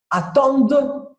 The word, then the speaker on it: attendent: O que eu faço? Corto fora, não pronuncio. Então, eu digo, les deux enfants attendent. Acabou no D. Eu pronuncio só o D.